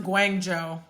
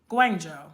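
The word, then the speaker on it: Guangzhou: Okay, it's pronounced Guangjo. Oh, Guangjo. Thank you.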